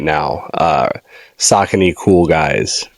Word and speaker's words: Saucony: named this this episode so far right now, Saucony Cool Guys, right? Mm-hmm. And the joke behind that is because on TikTok, I was always talking about Saucony and just like Saucony is like on fire.